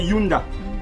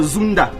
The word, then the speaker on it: Yunda: Sunda, mais en vieux Kikongo on disait Yunda. Yunda, Y-U-N-D-A. D'autres prononcent ça Zunda.